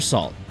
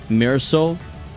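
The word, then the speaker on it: Sault: Oh, Mirror Salt. By the way, you should level up Salt. Oh, it's not even pronounced like salt. It's like Mirror Soul. Oh, wait, it being French.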